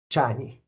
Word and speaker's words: Csanyi: Um am I pronouncing your last name? That's approximately that'll do. What what is the correct one? Chani. Chani. Okay. Chani.